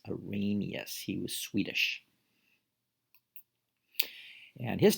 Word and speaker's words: Arrhenius: he's a pretty big guy in chemistry it's pronounced arrhenius arrhenius he was swedish and his definition of an